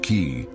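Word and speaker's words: qi: The invisible vital force called ki, pronounced ki, flowed through every living being.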